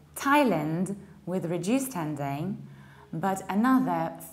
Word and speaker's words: Thailand: But this word is an exception, which means that even though it's spelled with TH, we pronounce it with T. We don't say Thai, we say Thai. And now we have two options. We can say Thailand with reduced ending, but